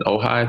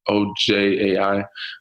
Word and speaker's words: Ojai: in Ojai, I think that's how you pronounce it, Ojai.